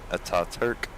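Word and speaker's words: Atatürk: Ataturk. A-T-A-T-U-R-K. But the U has 2 dots, so kind of a thing. Probably not pronounced the way that I am trying to do it.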